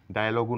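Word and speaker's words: dialogue: sound নেই এল ই এ জি লিখ তদ্রুপ ডায়লগও নয় বলবো ডায়লগ মনোলগুনা বলবো monologue guide guest next silent letter V কাব্যিক ভাষায় কবিতায় অনেক সময়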